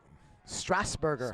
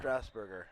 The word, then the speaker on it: Strasburger: did he pronounce it strasburger strasburger okay it's like the uh city strasbourg but just a little burger at the end of josh 26 32.